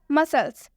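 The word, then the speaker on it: muscles: होता है शीष से मसल्स मसल्स में भी एस के बाद से सी आया हुआ है जैसा कि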